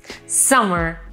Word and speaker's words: summer: mia favorite Season Summer summer attenzione alla pronuncia anche se ci sono due m Summer e noi italiani tendiamo proprio a pronunciarle in realtà se ne pronuncia solo una quindi non è Summer